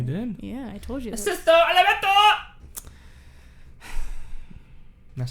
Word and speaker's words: Sesto Elemento: Sesto Elemento!